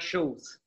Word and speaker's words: Schultze: Quick hello, how do you pronounce it, the last name correctly? I didn't ask you that beforehand. Schulze.